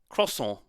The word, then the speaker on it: croissant: Croissant. You don't pronounce the T at all, right?